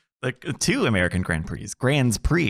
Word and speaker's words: Grand Prix: Grand Prix is how you say that.